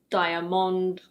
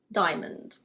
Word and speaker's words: diamond: It's not "dy-a-mond" or "dee-a-mond". It's: diamond.